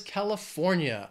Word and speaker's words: California: Next is the most populous state, and that is California. It has four syllables, stresses on that third syllable, California.